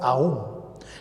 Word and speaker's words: aún: En cambio acá la tónica, ¿quién es? La U, y decimos aún.